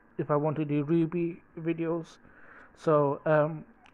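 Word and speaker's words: RWBY: So I've been thinking about whether if I want to do Ruby videos. So Ruby is spelled R-W-B-Y.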